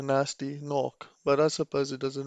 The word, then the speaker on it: Gnasty Gnorc: so then we have the pronunciation of the name ger nasty Kanak instead of a nasty knock but I suppose it